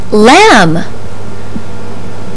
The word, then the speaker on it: lamb: Babble believe and crib this letter is silent in words like lamb crumb and doubt this sound is S